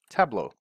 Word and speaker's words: Tableau: spelling or pronouncing and just remember it's table or La Mesa if you're from Spain a you okay so La Mesa table au Australia an Australian table I don't know how